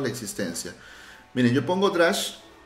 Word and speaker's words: Drush: O Drush, bueno, se pronuncia Drush, ¿no? Pero viene de Drupal. Sería una especie de abreviatura de Drupal Shell.